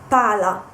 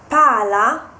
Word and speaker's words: pala: whereas if you pronounce Pala with just one L it means chov so if you mean the ball the round object you have to uh stress the Double L so pal Pala paa and this the